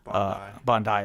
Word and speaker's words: Bondi: We had a tragic shooting in Australia, the anti-Semitic attack at Bondi Beach in Bondi, is that how it's pronounced?